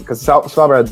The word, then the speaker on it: Svalbard: It's just general research facility that's in the Arctic basically, because Svalbard's a big Arctic research base. Awesome. It's actually pronounced Svalbard, whatever.